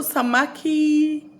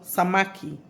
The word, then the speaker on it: samaki: fish in Swahili fish in Swahili is called samaki okay fish in Swahili is called samaki okay so samaki is pronounced as s for Sam a for apple